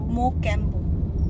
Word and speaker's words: Mocambo: ভালো হাওয়া আসছে আমরা যেখানে যাচ্ছি সেটা হলো মোক্যাম্বো মগ্যাম্বো মোক্যামবো রেস্টুরেন্ট একবার নামটা পরিষ্কার কর উচ্চারণ কর মোক্যামবো তো ওটা এখান